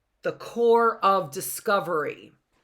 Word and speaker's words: Corps: Jefferson and Lewis agreed that the expedition would be called the Corps of Discovery. The P here is silent, right?